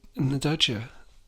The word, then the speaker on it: nduja: I would probably have some that induja on it. Is that how you say it? Induja? Induja? Induja? Naduja. Yeah.